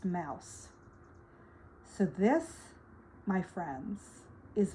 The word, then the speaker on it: Maos: The name came from the stone itself, and the letters MAOS, pronounced mouse.